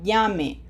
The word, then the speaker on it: llame: Ya llamé, ya llame. What is the difference in meaning? Okay, let's find out. Look at that. One means I already called. The other one means hurry up and call.